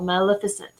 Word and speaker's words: Maleficent: if it Lillith see I have a hard time pronouncing Maleficent was a magnificent but it's not a G it's an L Maleficent and it's a fairy